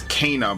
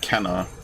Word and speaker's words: Kena: It's Kana, by the way, not Kenna. I've been saying it wrong for years.